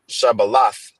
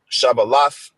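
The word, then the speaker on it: שבלת: in the Hebrew, okay, which is Shabbalath. Okay, that's the correct pronunciation. Strong's H7641, Shabbalath.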